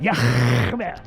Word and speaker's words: Yahweh: That's how you pronounce it. Yahweh.